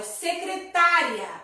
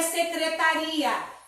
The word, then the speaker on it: secretária: A primeira palavra, pessoal, é secretária, não é secretaria. Secretária, né? Que é aquela moça responsável que trabalha na secretaria.